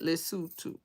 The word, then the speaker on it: Lesotho: And you have to say it like that, Lesotho.